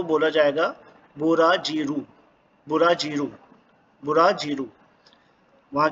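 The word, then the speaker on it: ブラジル: Brazil को बोला जाएगा बुराजीरू, बुराजीरू, बुराजीरू।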